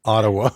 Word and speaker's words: Ottawa: You pronounce one of the T's in Ottawa, but not both of them.